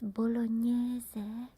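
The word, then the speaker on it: bolognese: It's bologn, but it's written like this.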